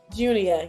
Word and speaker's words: Junia: And did I pronounce it right for Junia? Junior.